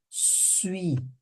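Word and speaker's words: suis: J sui olha aqui olha que a pronúncia vem até aqui ó sui sui Ok sui sui como se fosse falar suíço sui sui J su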